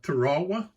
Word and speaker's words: Tarawa: But I wanted to do Tarawa, which some of y'all may say, what is he talking about?